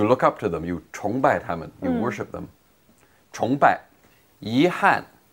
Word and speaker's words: 崇拜: It's pronounced in the second tone. 崇. 崇拜.